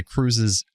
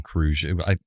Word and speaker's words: Kruge: It is Krug. Why am I saying Kruge? I'd spelled that way, so I was saying it wrong.